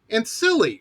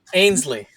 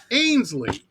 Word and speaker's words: Ainslie: I think I butchered it last time. Ainslie, right? No. Not Sorry, at all. I didn't even. No, not even close. Okay, you tell me. Ainslie. Ainslie. Yeah, it's really easy. Ainslie.